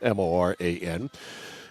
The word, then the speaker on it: Morin: So off the draw, it's Callie Moran, Callie Morin is how she pronounces it, Moran.